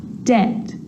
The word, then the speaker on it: debt: some dumb plumber and the letter B is often silent when it's before the consonant T so think of these examples subtle debt and doubt so seeing all of